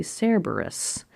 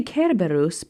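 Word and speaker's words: Cerberus: So why do I say Kerbarus? Some people say Cberus. I say Kerbarus because historians have proven that in Latin if a word starts with a C, it's a hard C.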